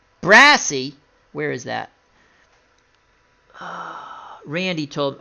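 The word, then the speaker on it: Braase: Ordell Brass, how do we say his name again? Brassy.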